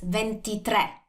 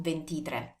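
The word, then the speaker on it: ventitré: is that we so when we say 23 it's venti tre not ventitra or something like that so the stress is on the last vowel and the sound is like slightly different because that's accented and also the spelling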